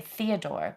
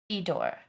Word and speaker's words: Fedor: Okay, so it's I was hearing you say Theodore, but it's Fedor.